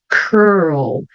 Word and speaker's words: curl: World, curl. Então, o que acontece com essas duas palavras? Eu tenho o R, que é bem enrolado, né? E depois tem um L. E eu tenho que pronunciar esse L.